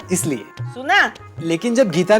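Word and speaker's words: Shonali: सोनाली नहीं बड़ी माँ, सोनाली। उसका नाम सोनाली है, SH। उसके नाम में H साइलेंट नहीं है ना।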